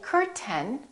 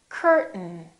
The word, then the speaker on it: curtain: button say button button don't say curten say curtain curtain one more word don't